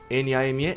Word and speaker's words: name: Mas esse e como nome n a m e name. Morre no m, não fala name, né? Que é uma é um costume brasileiro.